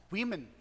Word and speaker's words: women: Women. Women, que é o plural da palavra woman, né? Woman, women. Woman, women. Muda a letra para formar o plural e também muda a pronúncia, tá bom?